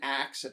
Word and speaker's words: ask: um you know and axe versus ask and stuff like axe was a valid pronunciation and if anything was a more common pronunciation of the word like hundreds of years ago and like through a pro through metaththesis is what the process is is called in which like letters are kind